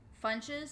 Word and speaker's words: Funches: Funches is spelled like fun, like we're having fun. But like munch it, like munchy, like Funches.